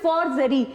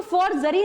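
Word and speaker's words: forgery: मैं आपको जो बताना चाह रही हूँ, हम जल्दी में क्या बोलते हैं फॉर्जरी, तो फॉर्जरी नहीं है, वो है फॉर्जेरी।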